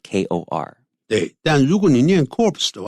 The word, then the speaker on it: corps: way it would be corpse okay but because as a French word the PS are not pronounced so it's just core like Kor hey Daniel Union corpse